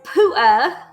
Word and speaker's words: pewter: And they unearthed an artifact, and it was made of pewter, and he pronounced it as pu'a, the word pewter, and it fucked me up so bad.